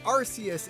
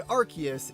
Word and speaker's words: Arceus: So in my little headcanon lore, Arceus is the true name, and Arceus is the false idol that Game Freak and Nintendo want us to go by in the modern time.